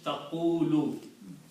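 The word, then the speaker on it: تقول: On the first letter Qaf, I put a dhamma. On the second letter Waw, I put a sukoon, and third letter dhamma. So this pronounces taqulu.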